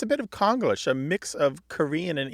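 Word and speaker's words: Konglish: exactly right right so it's a bit of conglish a mix of Korean and English that's k-o-n-g-l-i-s-h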